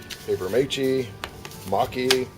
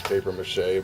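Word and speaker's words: papier-mâché: I'm pronouncing that right I know some people pronounce it differently you know paper M paper M mocky no actually it's paper mâché but uh you know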